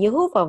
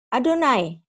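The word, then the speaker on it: יהוה: Berarti ini bisa dibaca Yehovah. Nah, tapi dalam tata krama orang Ibrani, ini nggak diucapkan Yehovah walaupun tertulis demikian. Tapi haruslah dibaca sesuai tata krama Adonai.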